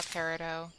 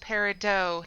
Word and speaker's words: peridot: We might as well grab the granite and the raw peridot. And despite what Steven Universe told you, it's pronounced peridot, not peridot.